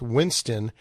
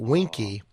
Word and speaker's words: Winston: of his childhood friends could not pronounce Winston he pronounced it Winky and so he went by Winky marale and then of